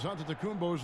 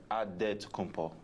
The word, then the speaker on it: Antetokounmpo: The Nigerian way, you gotta say it with a D, so it's Antetokounmpo. But in the Greek way, you say it with the NT, like Antetokounmpo.